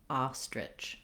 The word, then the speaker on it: ostrich: And then you can add the R, so that's just like the word rich, itch, rich. Add your T, trich. Add your S, stritch. And then add your stressed first syllable, ah, ostrich, ostrich.